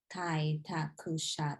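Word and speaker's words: 開拓者: So the ku part, so here's the trick with Japanese. Sometimes you'll see a word with ku or shu. They kind of just get rid of that sound, that shu or that ku part.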